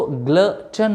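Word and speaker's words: glutton: कि ग्लटन का माना क्या है और इसका प्रोनाउंसिएशन क्या है। इसको ग्लटन पढ़ते हैं, ग्लटन, ग्लटन, पेटू, ऐसा इंसान जो पेटू हो।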